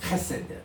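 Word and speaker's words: חֶסֶד: 그냥 헤세드가 아니고 카세드.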